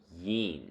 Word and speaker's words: yin: The word for good or well is yin, pronounced yin.